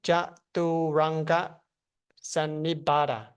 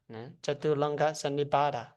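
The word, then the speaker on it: Chaturanga Sannipata: It's pronounced Chaturanga Sannibhata. Chaturanga Sannibhata.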